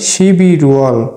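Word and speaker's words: 십일월: রিউলটি young এর স্থানে গিয়ে তার মূল উচ্চারণে উচ্চারণ করব তাহলে শিবি রুয়াল অর্থ নভেম্বর মাস সিবি রুয়াল অর্থ নভেম্বর মাস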